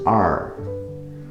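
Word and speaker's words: 二: For this 2 is so small, less than 200, you have to read it as r.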